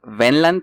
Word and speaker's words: Wendland: Su nombre es Pablo Wendland, que creo que en alemán se pronuncia Wendland. Si quieres ser mamalón, sí puedes pronunciarlo Wendland.